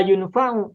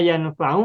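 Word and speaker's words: يَنْفَعُ: Maka bacanya tidak la yunfa'u tapi la yanfa'u. Maka wa min ilmin la yanfa'u artinya adalah aku berlindung kepadamu ya Allah dari ilmu yang tidak bermanfaat.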